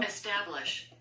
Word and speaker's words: establish: Establish. Establish. 예. 우리가 볼 때는 Establish도 아니고 Establish도 아니고 E와 에 중간 발음하면 돼요.